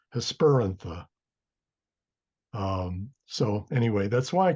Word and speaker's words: Hesperantha: Hesperantha, technically it would be Hesper means evening and antha means flower. So that's why I want to say Hesperantha. But again, the rule of the third syllable is Hesperantha.